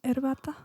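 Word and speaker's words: herbata: Could I have my erbata? It's my favorite word, I guess, erbata. I'm pretty sure I say it wrong, though. How do you actually say it? It's erbata? Okay, good.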